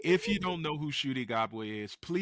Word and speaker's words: Ncuti: N is silent. Okay. When Oh, there's an apostrophe, you yeah. pronounce the letter. When it's together, Cootie? it's silent. Shooty, you simple Shooty.